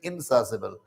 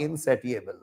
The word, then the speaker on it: insatiable: Spelling है INSATIABLE, इनसासिबल, pronunciation इनसासिबल, नॉट इनसेटिएबल।